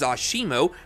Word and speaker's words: ASIMO: using the technology developed throughout its lifespan Asimo pronounced as Asimo means also lengths and stands 130 cm tall